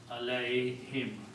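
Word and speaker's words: عليهم: you read this together this sound of this becomes him so it is pronounced as him okay so together this is pronounced as allay him allay him and this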